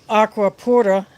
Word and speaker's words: Aquapura: It used to be known by the name Aqua Pura, Aquapura. I pronounce it like it's a Spanish word.